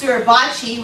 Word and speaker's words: Suribachi: Marines planting the American flag on top of Mount, I think it's pronounced Suribachi, which is in Japan.